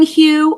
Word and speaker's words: HU: or a technique you know but um H Hugh okay H there's out loud there's silent there's the whispering Hue or you can spell it I'll give you